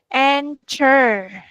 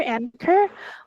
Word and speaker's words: anchor: Eh memakai K. Ch-nya dibaca sebagai K. Huruf K.